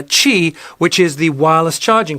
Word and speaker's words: Qi: which is spelt confusingly q i uh in some some places overseas they actually call it qi rather than cheap it's supposed to be pronounced uh chi which is the wireless